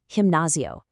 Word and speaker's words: gimnasio: And finally, gimnasio.